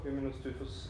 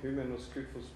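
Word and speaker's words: Hymenoscyphus: And if you look here, I had once the opportunity in 2008, before Hymenoscyphos albidus and pseudoalbidus were described, I found it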